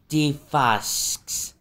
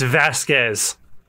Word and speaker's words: Vasquez: see and who might you defasks no uh no no it's Vasquez de Vasquez man you're